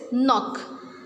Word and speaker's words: knock: Second word is knock. We will not pronounce K.